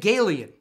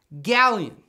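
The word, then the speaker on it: Gallien: i don't know i said gaelian like an alien it's not galeon galleon like a stallion galleon krueger just say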